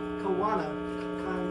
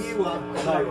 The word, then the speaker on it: Kanaiwa: I want to pronounce this guy's name correctly. Takuma Kawana. Close. Kanaiwa. Kanaiwa.